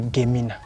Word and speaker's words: Gemi: And in the dialect, it was a Gemina. Okay. A Gemina. But at the arrival of the German missions, they couldn't pronounce the word Gemina, and therefore shortened it Gemi.